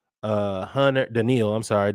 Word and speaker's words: Danielle: You have Danielle uh Hunter. Denil, I'm sorry. Denil Hunter.